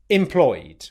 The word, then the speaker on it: employed: We've already looked at the word employ, so all we're going to do is add the ed ending onto this word, which in this particular scenario is just the D sound.